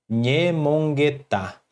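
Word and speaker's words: ñemongeta: Esse Nhe, esse N com o tio em cima, ele representa a consoante NH do português, que seria nha. Aí nós pronunciamos como nha, nha, com a língua colada ao céu da boca, nha, e ela é uma consoante nasal.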